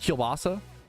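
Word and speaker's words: kielbasa: I mean that Is it just is it is it just kilbasa? How to pronounce kilbasa?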